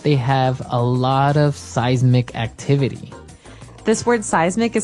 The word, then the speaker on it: seismic: It's pronounced seismic, right? Seismic.